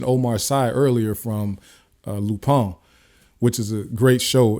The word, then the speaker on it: Lupin: that it's on Netflix it's spelled like Lupin like l u p i n but it's pronounced lupon it's a French it's a French show